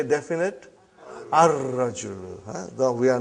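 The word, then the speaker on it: الرجل: Now we have sun letter ar-rajulu waqifun. Brother, as-sukkaru.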